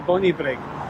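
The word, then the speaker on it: Bonnybridge: This time we're from Kippen Tiller to Bonnybrig and that's where we left off the trail the last time.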